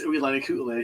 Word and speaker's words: Uilani Ku'ule: And I want to read this because I want to say thank you to Uilani Ku'ule. For most people who don't know how to pronounce Mary's name, it's Uilani Ku'ule.